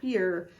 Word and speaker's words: where: So the w makes sense, w, but the e, a, sounds like an A. The R makes sense, and then the E at the end really should make this say e or where, but it doesn't say that, it says where.